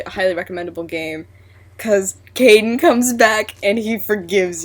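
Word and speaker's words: Kaidan: Okay, he's even made comments about the fact that it looks like it's spelled kitten, not Caden.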